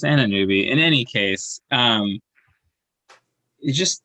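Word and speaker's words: Anunoby: sheet of um pronunciations let's see what does my sheet say oh it only does it for our roster yeah it's anna newby in any case um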